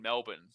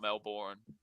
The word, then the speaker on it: Melbourne: Um or you kind of take out the the O in Melbourne. Um but it's not Melbourne.